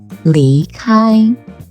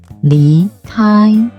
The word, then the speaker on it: 离开: For example, leave in Chinese is 离开, 离开. It's a second tone plus a first tone. The second tone here is just like the rising 离, as in really.